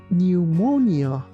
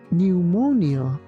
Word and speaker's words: pneumonia: of this word because although we have a P at the beginning of this word for example we don't say pneumonia this word is pronounced like pneumonia pneumonia pneumonia psychic psychic psychic